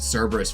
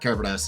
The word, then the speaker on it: Cerberus: has to, like, retrieve Cerberus for a while. Or I think the Greek pronunciation is like Kerberos or Keberos, right, or something, whatever.